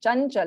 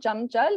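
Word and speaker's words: चञ्चल: Chanchal. It's not Chamchal. It is Chanchal.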